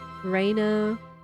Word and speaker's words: Rena: say this game has corrected me in terms of how to pronounce well how to pronounce a raina's name cuz it could be like Reena Reena Raina Reena Raina rhina there's a number of ways you can think about pronouncing it but that they made it clear that it's you know it's Raina kind of the like